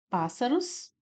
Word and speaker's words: pássaros: No item C, pássaros. Pá, pássaros. Nós temos aqui o paz, né, como sílaba tônica, também uma proparoxítona.